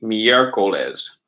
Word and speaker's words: miércoles: So in Espanol, it'd be miércoles. Miércoles. Con acento en E.